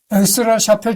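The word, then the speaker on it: Aix-la-Chapelle: 엑스라 샤펠 조약, 아엔의 프랑스 발음, 프랑스어 발음.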